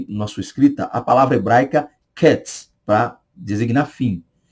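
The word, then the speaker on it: קץ: o sentido vamos lá a palavra fim do hebraico é cats cats tá repito cats mais devagar para você Professor pronunciar no hebraico cats cats então quer dizer o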